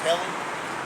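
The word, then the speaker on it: Ἕλλην: And the pronunciation is Helen.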